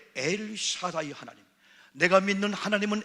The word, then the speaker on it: 엘 샤다이: 엘 샤다이 하나님, 이건 엘 타이나가 아니고 엘 샤다이 하나님.